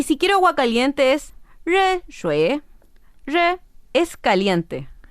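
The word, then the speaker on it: 热: xue xue y si quiero agua caliente es re re es caliente y T T se dice cha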